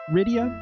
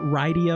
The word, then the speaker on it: Rydia: That's how people pronounce this name, right? Ridia, not Ryia or something other something else like this.